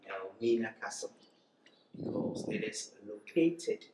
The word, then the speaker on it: Elmina: So they named the area Elmina, and that means the gold mine. But this was corrupted or mispronounced to be Elmina, and that has come to stay.